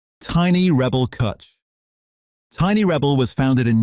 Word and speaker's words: Cwtch: Cwtch, the Welsh word for a warm, safe place, pronounced Cwtch, is their flagship red ale, and it is one of the most underrated beers in British supermarkets. At 4.6%, Cwtch is a red ale built on a complex